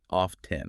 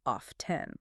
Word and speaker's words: often: Some people say oft 10, right? Yes. That's a pronunciation variation. In American English, the T is usually silent.